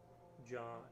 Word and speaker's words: ja: Ja is almost the same Swedish and German. Nice. The J sound in Swedish seems to be the same as German. Like Ja, yes, is pronounced ja.